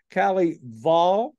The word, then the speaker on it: Kelley Vahl: Kalley Vahl, right?